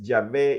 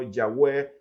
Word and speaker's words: Yahvé: Yahvé o Yahwé, pero los estudiosos de la lengua hebrea afirman que la mejor forma de pronunciarlo es Yahvé y no Yahwé. Por la razón que hemos explicado que la tercera consonante del tetragramatrón es VAV y suena más como V que como W.